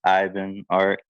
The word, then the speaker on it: iBEENART: but a lot of people know me as, and a lot of people pronounce this wrong, but it's iBEENART.